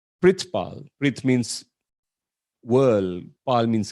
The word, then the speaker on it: Perthpal: born in australia but that's how my name is spelled perth pal p-e-r-t-h-p-a-l well supposed to be pronounced as pritz pal which means world paul